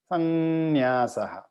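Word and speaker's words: संन्यासः: So the way we have written is Samnyasaha, but we slightly pronounce it Sannyasaha. Yes. So there's an N sound instead of an M sound.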